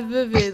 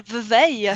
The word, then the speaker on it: Vevey: Oui, ça se prononce bien Vevey, non pas Vevey, s'il vous plaît, ou Vevey, ou je ne sais pas quelle autre prononciation.